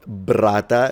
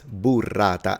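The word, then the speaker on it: burrata: right is not Italian it's not brata it's Bata as ol was saying you've got to pronounce and enunciate every letter there is a u so it's bu Bata Italians roll their asss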